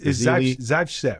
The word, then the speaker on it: Zaitsev: I can't pronounce his last name. It's Zaitsev.